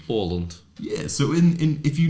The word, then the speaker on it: Åland: Yeah, but you say it with like that A thing. Åland.